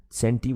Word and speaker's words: centi: this is terra and c is centi centi with a c not with an s okay now if